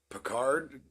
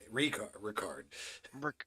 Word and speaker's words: Ricard: They have Picard and Derrick Henry. Did I say it wrong? Patrick Ricard. Ricard. That's hard. Oh my God. I made it Picard.